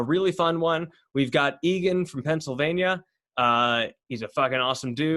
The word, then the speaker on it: Egan: right exactly exactly yeah so uh uh it's pronounced egan right yes okay cool i just wanted to